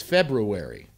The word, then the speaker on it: February: like I every once every year I go crazy for a whole month because I hear all these people on television saying so in February it's February you know in kgo they